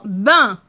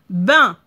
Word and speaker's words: bain: Regardez, il y a la lettre N, mais ça ne se prononce pas. On ne l'entend pas. Bain. Parce qu'il y a A-I-N. Quand il y a A-I-N, ça se prononce 1.